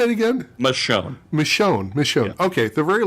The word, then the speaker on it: Michonne: Michonne.